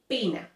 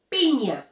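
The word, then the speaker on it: piña: because in english obviously you don't have the letter any so that's why people tend to say pina but if you are learning spanish you can't make that mistake you now know how to say it pina and this is the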